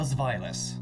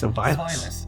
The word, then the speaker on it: Zweilous: And I sure hope I'm pronouncing that right, because boy, otherwise this comment section's going to be huge. But trust me, I looked it up, found like 40 different ways to pronounce it, and that one makes the most sense. Zweilous. It's German.